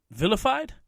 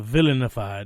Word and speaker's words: vilified: Vilified? It's not, I guess you can't have the villainified. No, it's villain, but whatever, vilified for, believing in what you believe in.